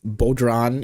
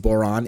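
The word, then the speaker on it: bodhrán: It's not pronounced bodran, it's pronounced boran. It's an Irish drum.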